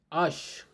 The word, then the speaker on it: H: Ash, H is spelled as Ash, Ash.